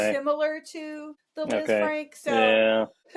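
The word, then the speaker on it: Lisfranc: And they compared it to the is it Liz Frank? Is that how you say it? Frank. Yeah. Yeah. Kind of a French name.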